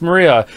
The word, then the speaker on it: Maria: she's important that's fantastic it's pronounced Maria the third character looks like a cross which